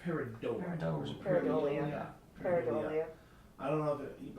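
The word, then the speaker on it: pareidolia: It is pronounced Paradola. Paradolia.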